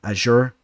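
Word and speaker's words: Azure: knock out Hunter Azor, or Hunter Azur. I know he pronounces that kind of weird. I know you guys are going to give me some slack with my pronunciation, so let me make sure I get that right.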